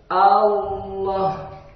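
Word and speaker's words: الله: Maka A-nya tipis, A, lam-nya tebal. Allah.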